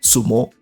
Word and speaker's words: sumo: As it turned out, Yanqing was quite proficient in wrestling and won a Xiangpu contest, pronounced in Japanese as sumo.